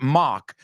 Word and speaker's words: mock: All right, the first word, mock. What does it rhyme with? Okay, it rhymes with lock, right?